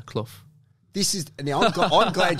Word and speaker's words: Clough: lot of the time it's cloth like but that's my accent i think i don't know if australians can pronounce it like that cloth so am i saying it's cloth cloth it's like cloth cloth yeah that's right yeah clough this is the